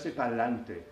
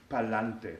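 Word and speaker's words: pa'lante: Spanish is Palante Palante this is kind of a contraction this is a a Street pronunciation it's very colloquial Palante Palante properly said it would be parante adante adante is forward parante is towards forward but it's abbreviated in Puerto Rican slang to Palante say Palante Palante to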